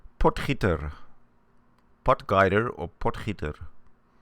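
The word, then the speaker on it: Potgieter: So we or it is pronounced potter potguider or potter. Potiter is more sort of kind of real authentic.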